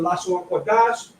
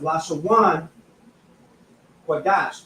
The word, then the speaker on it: Lashawan Qadash: it in the English, it would be La, Sha, Wan, Qua, Dash.